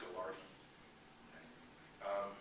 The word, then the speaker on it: Gaillardetz: i l l a r d TZ it's pronounced gardi um and when I took spiritual preaching in seminary